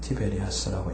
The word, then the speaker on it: 티베리아스: 이것은 티베리아스라고 읽는데 갈릴리서안의 한 도시 중 하나입니다.